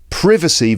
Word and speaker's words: privacy: as privacy, but nevertheless in British English we pronounce the noun as privacy and the adjective privacy.